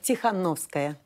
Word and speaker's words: Tikhanovskaya: And Svetlana, pronounce it for me. Tikhanovskaya. Tikhanovskaya is with me here in the studio.